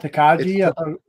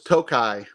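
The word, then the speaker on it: Tokaji: So it's pronounced Takai. It's not Takaji. No, it's Tokai. Tokai. It's a Tokai. It's a Hungarian. Tokai is a Hungarian sweet wine.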